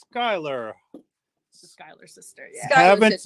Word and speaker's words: Schuyler: Nancy Robertson says the Schuyler is pronounced Schuyler.